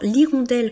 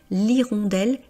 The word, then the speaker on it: hirondelle: Alors, l'irondelle commence par la lettre H et c'est un H muet.